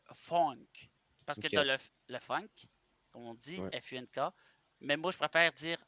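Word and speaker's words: phonk: F-U-N-K. Mais moi, je préfère dire, OK, t'as le funk, puis le P-H-O-N-K se prononcerait plus funk. Funk. Funk. Funk. Parce que t'as toujours le K.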